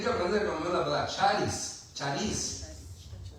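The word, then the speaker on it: χάρις: Tienen que aprender como la palabra charis, charis. Charis o charis, lleva acento en la A, parece. Si lleva acento en la A sería charis.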